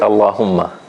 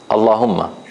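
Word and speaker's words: الله: say then we say Allah what else can we did we notice about this you want to look at it again if you start from it you pronounce the Hamza yes that's another good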